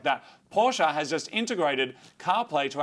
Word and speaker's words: Porsche: finishing with some conspiracies Porsche that's right that's how you say it easy answers to complex